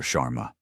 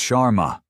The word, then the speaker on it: Sharma: Chararma." He butchers the pronunciation of her name. Another small deliberate cut. "It's Sharma."